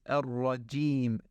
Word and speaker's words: الرجيم: It is not ar-rajim, it is ar-rajim, j.